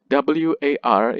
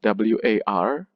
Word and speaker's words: war: how you pronounce war war ends with or far ends with r so far and war does not rhyme but it is some